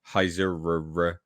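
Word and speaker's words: Heisserer: TV deal with Eric Heiserer. Don't know how to say it. How would you say this name? Heiser. No, there's two ERs, mate. Heiserer.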